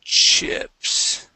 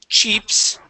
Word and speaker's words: chips: to uh let's see chips okay instead of cheps okay okay uh let's use short I and say chip Chips chips there you go nice okay